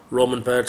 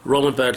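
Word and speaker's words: Römerberg: Then I've just been out to Romanberg Square. I said it wrong there. Romanberg Square tonight.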